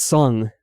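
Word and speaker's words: Tseng: Yeah, it's Song. That's how they say it now.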